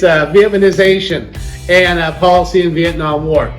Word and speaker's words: Vietnamization: It's Vietnamization and policy in Vietnam War.